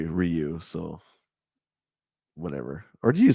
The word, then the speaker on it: Ryu: but I also say rayu and you say Ryu so whatever or do you say rayu well I know lots of people that I know say Ryu but I say rayu yeah well that so for that one I